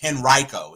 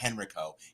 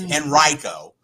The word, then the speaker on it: Henrico: It's Henrico. It's not Henrico. It's Henrico, because I had to say it like 12 damn times.